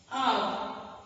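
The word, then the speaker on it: hour: Because the initial sound is of a O, which is a vowel, and so you use article and before R and R and honest man.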